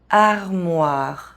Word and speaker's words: armoire: E as the last letter of a word is silent in French. Armoire, tasse, imprimante.